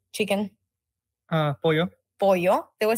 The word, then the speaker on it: pollo: Pollo. Pollo. They will say pollo, but for Argentina it's pollo. Oh, wow. So it sounds completely different. Yeah. Our double L's we pronounce them like sh, like a SH.